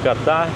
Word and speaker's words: Ката: Называю Кота, потому что так вроде на последний слог у них все ударения. Не Ката, а Катай.